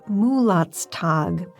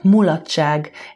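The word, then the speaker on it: mulatság: except this one's Hungarian on the page it looks like it's pronounced mot's tag but well here's Ava reading from clar it is absolutely impossible to translate mulach in one simple word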